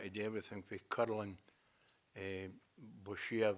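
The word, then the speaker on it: boccia: do everything for curling, Boshia, that's the way you pronounce it, and other things, and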